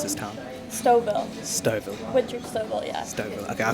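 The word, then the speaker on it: Stouffville: you don't mind me asking how do you pronounce this town stov stov WI stov okay I thought was Stu Phil but my English pronunciation is bit off are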